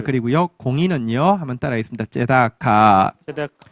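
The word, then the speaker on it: צדקה: 제다카.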